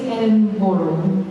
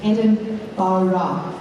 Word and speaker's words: Edinburgh: So first of all, you have to say it properly. Okay, so the locals, like, know that you're cool, right? So you don't say Edinburgh. You say Edinburgh. Do you want to try it?